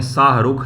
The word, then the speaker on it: शाहरुख: Who among the following rulers introduce the silver coin name शाहरुख। शाहरुख शाहरुख शाहरुख बोल देते हैं लोग। शाह रुख ये सही उच्चारण होता है।